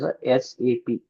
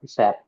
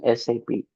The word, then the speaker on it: SAP: So, we should pronounce this as SAP not SAP.